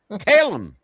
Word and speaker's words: Callum: Call him Callum. Callum. That's how they say it.